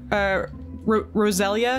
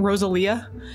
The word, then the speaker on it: Roselia: Like, Roselia, he kept calling Rosalia, and he kept saying, like Rayquaza.